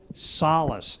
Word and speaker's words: solace: Solace. It can also be pronounced solace.